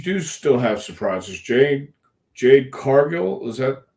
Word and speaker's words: Jade Cargill: is is you do still have surprises Jade Jade Cargill is that how you pronounce it yes just just showed up at